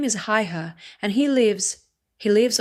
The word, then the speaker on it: Haigha: His name is Haigha." He pronounced it so as to rhyme with the mayor.